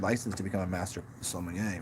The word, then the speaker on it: sommelier: They're called sommeliers. See, if you read it, it wouldn't say sommelier. He barely pronounced the even L in it. It's a sommelier.